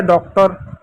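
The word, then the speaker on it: daughter: चलो डी का क्या हुआ? ड हो गया। डी खत्म हो गया। ए यू का क्या हो गया? औ की मात्रा हो गया। ए यू खत्म हो गया। जी एच साइलेंट हो गया। उसको कुछ लिखेंगे नहीं। टी का ट हो गया। इ आर का र हो गया। तो हो गया डॉक्टर।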